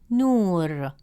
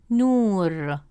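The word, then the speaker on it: نور: As a result, the correct pronunciation of the word is nur, nur.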